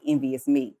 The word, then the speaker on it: nvsme: Envious Me, but when you say it, it's like Envious Me.